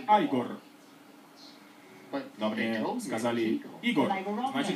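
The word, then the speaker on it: Игорь: А вы, наверное, Игор. Произносится как Айгор.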